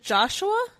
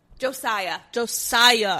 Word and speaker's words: Josiah: Is it Joshua? No. How do you pronounce it? Nope. Josiah. Hannah is watching.